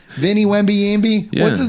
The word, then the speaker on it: Wembanyama: I want to get piped by Victor Wembanyama. Is that his name? Vinnie Wembanyama? What's his name? Yeah, you're saying it right, I think. No, Wembanyama.